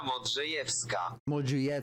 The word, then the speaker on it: Modrzejewska: Helena Modrzejewska. Modrzejewska. Helena Modrzejewska. Modrzejewska. Helena Modrzejewska. Modrzejewska. It sounds like Modrzejewska. Helena Modrzejewska. Modrzejewska. Oh, maybe the W is a V.